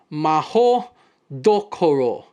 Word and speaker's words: Mahoutokoro: In her writing of the Japanese wizarding school, Mahoutokoro Koro, which is actually pronounced Maho Dokoro, Rowling continued the stereotype of Japanese being obsessed with honor, with an added tinge of imperialism, of course.